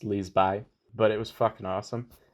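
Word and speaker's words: Liseberg: amusement park it's called Liz by Leesburg it's like Leesburg but it's pronounced Liz by but it was [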